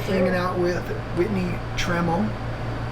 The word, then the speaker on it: Tramel: Hanging out with Whitney Tramel. It rhymes with camel, she said, so I'm going to remember it now.